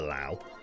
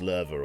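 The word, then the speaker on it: Löwe: sure that everybody used to call it the lao and it's actually pronounced lerva or something lovely that's the one lovely means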